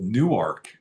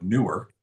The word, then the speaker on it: Newark: It's spelled the same, but it's called Newark, Delaware, instead of Newark.